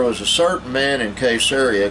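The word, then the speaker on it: Caesarea: and he is the first preacher I've heard pronounced the name of this town and Italy properly it was called caseria there was a certain man in case area called Cornelius a centurion of the band called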